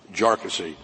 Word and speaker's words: Jarkesy: and by the way it's pronounced jassy uh not not a number of other ways that that it's been pronounced by by many um the the bottom